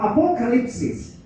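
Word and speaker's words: ἀποκάλυψις: Nah, kata revelation atau wahyu tulis dalam kata Yunani di sini apokalipsis. Bacanya ini, yang dalam kurung.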